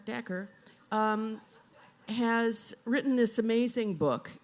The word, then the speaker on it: Dacher: So anyway, Dacher, like snacker, Dacher, has written this amazing book on power, and I think it's called The Power Paradox, which he's about to explain.